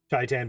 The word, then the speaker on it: Shaitan: Apparently it's pronounced Shaitan, not Shaitan. Huh.